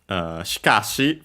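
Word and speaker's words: しかし: The first I barely heard if at all. Because it's between a voice consonants, so yeah. The accent is on the ka.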